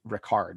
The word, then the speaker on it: Richard: ricard wagner like like i guess in germany he's rickard not richard so but i'm gonna stick with richard because i can't even